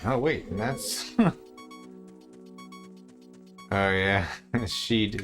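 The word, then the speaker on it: Sidhe: Ah, and oh wait, that's oh yeah, Sheed. Sheed is like Shidhe or some shit. Yeah, Monsters didn't know how to pronounce it either for like the first book or two.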